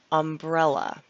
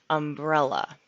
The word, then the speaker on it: umbrella: when it's raining outside umbrella with the accent on the e umbrella umbrella now that we've learned